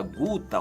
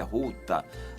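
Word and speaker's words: Ghouta: capital da Síria, chamada Guta, ou a pronúncia deles é Ruta Oriental.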